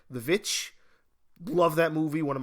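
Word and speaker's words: The VVitch: a good horror movie called The Witch or the correct pronounce uh pronunciation of it the vit love that movie one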